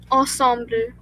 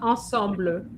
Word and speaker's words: ensemble: Um, ensembler. Not ensembler. Ensemble.